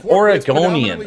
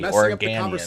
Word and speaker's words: Oregonian: Orgonian. Okay. It's not an A. Organian. It's Orgonian.